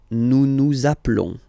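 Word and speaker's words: appelons: Naplon zaplon. Okay. Final s doesn't exist.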